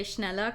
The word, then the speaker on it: Schneller: embossed brand name schneller hey that was pronounced correctly schneller is a stationary brand from godvault beloved among architects and engineers so they got they got the guy to say schneller correctly but he's pronouncing god world